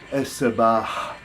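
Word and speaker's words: الصباح: Now, this is the word morning, and that has a hard H at the end, and it sounds es-sabah, the morning, es-sabah. And the difference is obvious to the ear of the Arabic speaker, but it can be somewhat difficult to distinguish for Western ears.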